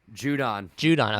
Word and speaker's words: Judon: Judon.